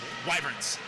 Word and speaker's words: Wyverns: So in a very short break earlier, I was able to check the pronunciation, and it seems that it is Wyverns.